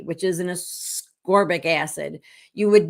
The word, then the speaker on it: ascorbic: C is ascorbic acid I just heard that pronounced today from Siri because I thought it was a sorbic acid so I don't know Siri knows everything so I'm gonna say ascorbic it sounds dumb but